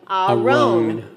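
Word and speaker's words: ארון: This is a r sound with an o, so a roan. Aron.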